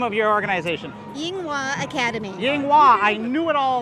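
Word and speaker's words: Yinghua: bit itself coming up next um what's that pronunciation down there yang wang academy oh do you have that i thought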